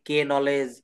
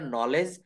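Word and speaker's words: knowledge: এক্ষেত্রে কে অনুচ্চারিত থাকবে আমরা অনেকেই যখন নতুন শিখতে আসি তখন আমরা এটা উচ্চারণ করি কে নলেজ কে নাইট কে নি কিন্তু না এটা নলেজ নলেজ আমরা এটা প্রায়ই বলে থাকি কিন্তু এটা বলতে হবে নলেজ অর্থাৎ এখানে কে নলেজ বলা যাবে না কেন বলা যাবে না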